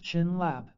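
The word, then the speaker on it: བྱིན་རླབས: is what blessing means the Tibetan word for blessing by an rap pronounced chin laap can be broken into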